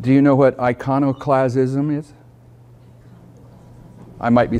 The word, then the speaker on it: iconoclasm: in Christian history like do you know what iconoclasm is I might be saying it wrong I iconoclasm I want to correct me on how to pronounce it iconic lism that's correct okay sometimes it happens what is